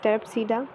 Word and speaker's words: Pteropsida: Here P is silent, so don't read it. From T is Terpsida.